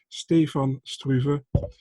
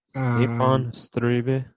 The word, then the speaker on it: Stefan Struve: fights, only win against Stefan Struve. I will pronounce it one time correctly, especially for you in Dutch, Stefan Struve. Stefan Struve.